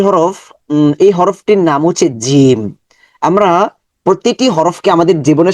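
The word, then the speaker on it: جيم: জিম জিম জিম এটা শক্ত sound হবে জিম এটার মাখরাজ আমরা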